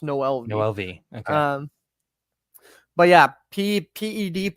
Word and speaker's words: Noelvi: According to Baseball Reference, it is pronounced Noelvi.